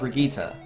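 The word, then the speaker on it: Brigitte: men it triggers me so hard but I pronounce the name of Brigitta that's the proper way to say it that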